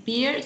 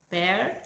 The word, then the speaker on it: pear: Lembra dos vogais? Pear. Isso. É. Pear. Esse é o E de Erica, né?